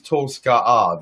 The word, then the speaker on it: Tolska'a: Mayan planet Maya, and my name is Tolska'a there, which is the royal pronunciation. And I am only Tolska here, because I am not royal away from my planet.